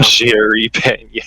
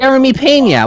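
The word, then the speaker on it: Jeremy Peña: Watched every single pitch just to watch Jeremy Pena walk it off at 5 in the morning. I fucked off to bed. Yeah. Jerry Pena. I feel like I fucked off the bed as well. Jeremy Pena.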